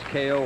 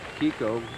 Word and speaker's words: Keijo: So, Reimann We've heard it pronounced Keijo or Kiko, either one.